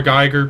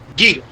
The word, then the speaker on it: Giger: Geiger painting. Celtic Frost. Yeah, the H.R. Geiger painting. Not Geiger. Giger. H.R. Giger, please. Giger. H.R. Giger. Sorry, but it's how his name is pronounced.